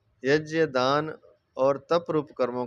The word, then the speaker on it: यज्ञ: कि इन कर्मों का यज्ञ हो गया जिसको यज्ञ भी सही उच्चारण यज है वैसे यज्ञ बोल सकते हैं इसको यज भी बोल देते तो यज्य दान और तप रूप कर्मों का त्याग नहीं करना चाहिए।